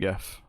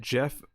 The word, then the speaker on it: GIF: If you'd pronounced it Jeff, I would have banned you from your own channel somehow. I know, GIF all the way.